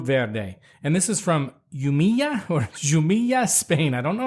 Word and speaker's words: Jumilla: And this is from Jumilla, Spain. I don't know how to say it. It's Jumilla.